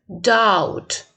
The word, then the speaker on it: doubt: pound, stout, round, ground, doubt. В последнем слове doubt, сомнение, B не читается, да? Ну, надеюсь, это помним.